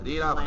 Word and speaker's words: Newfoundland: Oyos, by the way, it's Newfoundland. I just mispronounced it again.